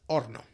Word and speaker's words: horno: Normally this letter is mute, so we don't normally pronounce most of the cases.